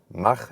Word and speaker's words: Mach: Why Mach-E, or Mach as we say in German for the pronunciation.